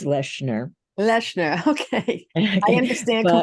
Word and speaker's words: Lechner: Nobody's ever pronounced it right since kindergarten, but it's Lechner.